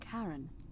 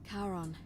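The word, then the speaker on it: Charon: coin just as you described it only your pronunciation is a little off the name you heard wasn't Karen it was c h a r o n so we're dead the ferryman of the Dead karon who in exchange for the right coin helps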